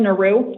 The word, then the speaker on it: Naru: It's pronounced Naru? Naru, yes. Okay, thank you, Ms.